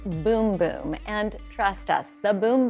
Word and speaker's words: Bum Bum: Brazilian boom boom cream I know it looks like it says bum bum on the little jar here but in Brazil they pronounce it boom boom and trust us the